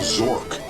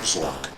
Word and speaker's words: Zork: completing the quest of Zork. But I never looked into it just because it rhymes with dork, and it sounds like